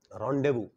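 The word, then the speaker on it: rendezvous: जलना और बातचीत करना पढ़ेंगे उसको रौंदे सिल्वर कलर की मछली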